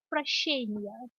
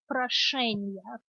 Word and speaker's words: прощения: So this is where we have the first word has a sh, the second word has a sh. If the second word had a sh in it, which is one without the little hanging tail, instead of прощения, it would be прошения. Can you guys hear the difference? Think of it as a softer sh sign.